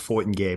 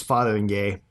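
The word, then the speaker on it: Fotheringay: sorry father and gay the way it's spelled makes me think it's pronounced fought and gay but it's fathering gay uh in a movie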